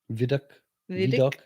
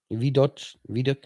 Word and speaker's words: Vidocq: Say it. Vidoc. It's French. Vidoc.